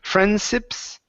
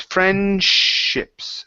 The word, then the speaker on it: friendships: So give me a good SH there instead of friendships. It's friendships. Friendships. Friendships. Get the SH. Push your lips out. Shh. Friendships. Friendships. Okay, almost. Let me show you what I'm doing here. Okay, so when you pronounce the SH, it's shh. Lips come out.